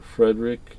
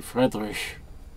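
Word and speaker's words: Friedrich: and Gary Fredick or Frederick you know I don't know how you want to pronounce I always pronounce it the German Way Gary fredrich but uh uh Mike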